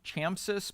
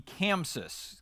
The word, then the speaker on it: ChamSys: q30 it uh so I usually refer to this as the chamsis but I've been told many many times by the manufacturer rep that I'm saying it wrong so it's the Kansas Quick q30 and this console